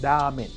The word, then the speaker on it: ramen: La pronunciación correcta de la palabra en idioma japonés es ramen, con la R lo más suave posible y alargando la A.